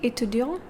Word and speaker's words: étudiant: Je suis étudiant and je suis étudiante.